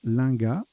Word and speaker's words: linga: été au n est donc là ça se prononce linga l'un gamme et la